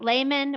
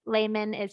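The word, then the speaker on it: Lehmann: And you pronounce it layman, which is how the Germans would pronounce it. So that EH is pronounced like an A. So layman would be the German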